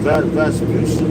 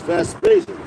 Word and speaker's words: Vespasian: Going back to General Pompey all the way to Vespucci and Titus, his son. If I said it, if I pronounce it correctly. Matter of fact, the edification, see, it's Vespasian, General Vespasian and his son, and that's going into what, 70 AD.